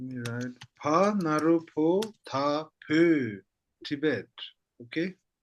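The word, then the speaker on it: བོད: Okay, before we write down, let me write Pa Narupo Ta Pö, Tibet. Okay? Pö.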